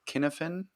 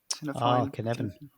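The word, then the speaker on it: Cynefin: Can you tell us a bit more about, I hope I pronounced this right, Kinefin? Kinevin. Kinefin. Kinevin framework. It's a Welsh word.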